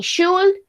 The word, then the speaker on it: should: Y lo mismo, aquí no pronunciamos la L, no decimos ni should ni shouldn't, decimos should, shouldn't, ¿ok?